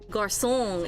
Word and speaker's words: garçon: But when you're saying the O like this, it's like son, nom, mi nombre, and garçon is there, and also l'homme is not there.